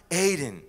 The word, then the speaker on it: Eden: the word eden means it's pronounced hayden and it means pleasure